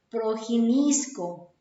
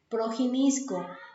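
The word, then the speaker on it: προγινώσκω: a entender desde el verbo en griego que se pronuncia así o se describe así progin isco progin isco Que traduce conocer De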